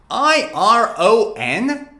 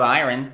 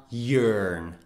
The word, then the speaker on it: iron: look at this one how do you pronounce it i-r-o-n so it's iren irene nope it's not iron it is a yearn iron iron iron both american and british people say iron so it's not iron but what is iron well